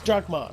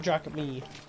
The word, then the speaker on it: drachma: Yeah, that's Drachma, not Drachme. You don't pronounce the E.